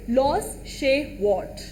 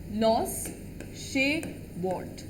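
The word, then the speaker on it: Klaus Schwab: ऑफ WEF, that is लॉस शेवार्ट. लॉस शेवार्ट. के is silent, क्लॉस बहुत लोग बोलते हैं, बट इट इज लॉस शेवार्ट. और ये क्या है?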